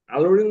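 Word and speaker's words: alluring: এখানে ওখানে বলা হছে আল্লু তো এখানে একটা উচ্চারণ আছে সেটা হচ্ছে আল্লু আল্লুরিং আলুরিং মানে হচ্ছে্যা আলুরিং আলুরিং মানে কি লোভনীয়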